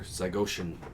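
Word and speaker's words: Zygoshin: the deaf lady remember zygotian the death lady sorry how do I spell that z-y-g-o-s-h-i-n looks like ocean death lady so Killian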